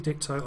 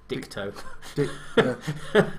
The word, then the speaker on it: Ditko: Steve Ditko, I do like Steve's art. It just doesn't. That way round. What did I say? Dicto. T before K.